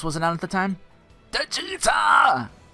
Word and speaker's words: Djeeta: Djeeta! Djeeta. Or Djeeta. The D is silent, hillbilly.